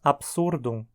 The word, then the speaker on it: absurdum: T não é pesada mas dizemos absurdum como paroxítona porque a penúltima sílaba sur é pesada já que termina num consoante com o passar dos